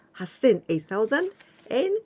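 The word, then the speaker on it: はっせん: other irregular one has sin with jump sound hassan a thousand and q sin let's practice how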